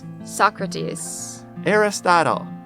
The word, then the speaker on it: Socrates: Everyone, the three famous Greek philosophers, can you say the English pronunciations? Socrates, Aristotle, and Plato.